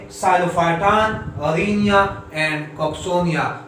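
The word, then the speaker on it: Psilophyton: सो नाम यहां से स्टार्ट होगा, नेम द साइलोप्सिडा, तो यहाँ पे टी है सो मेसेप्टेरिस, और पी साइलेंट है सो साइलोटम, यहाँ पे साइलोफाइटन, अरीनिया एंड कॉक्सोनिया।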